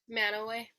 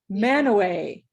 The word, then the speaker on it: Mantua: how to get there it's spelled mantua right so weird how we in utah have these funny names and then we just decide that we want to call them a certain way man away and it's spelled this way oh put in the chat it's so funny it's m-a-n-t-u-a who in their right